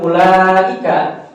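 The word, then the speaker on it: أولئك: ah kalau di kalimat ulaika ini masuknya kepada kaidah yang kedua alhurufulati tuktab W Tun huruf yang ditulis tetapi tidak diucapkan Nah itu kalimat ulaika ya jadi kalimat ya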